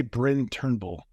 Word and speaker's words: Bryn Turnbull: First things first, I want to make sure I'm pronouncing your name right because I record a separate intro and outro. I would say Bryn Turnbull.